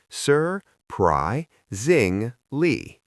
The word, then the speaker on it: surprisingly: The pronunciation of surprisingly can be a little tricky because of the R sounds. Let us break it down. Sir, pry zingly.